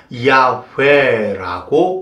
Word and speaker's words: 야훼: 히브리어는 자음으로만 되어 있습니다. 그래서 야훼라고 발음합니다.